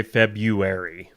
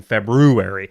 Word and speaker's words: February: But we all know that we're supposed to be saying February. It's Why like did- it's like you and realtors. It's spelled that way, but you say realtor. Why is there that R in February?